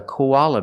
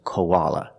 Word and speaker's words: koala: both pronunciation koala koala the O is pronounced with the long o like no and go co co the a is pronounced with the short a sound like hot and stop Kaa a koala the last a is pronounced with a relaxed uh uh sound like cup and up koala uh koala when we link the O in the a Kaa we have the w w sound in the middle Kaa